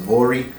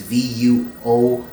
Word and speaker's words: Vuori: I think it's pronounced Vori, but it's Vuori, and these shorts usually sell brand new, they're like $50.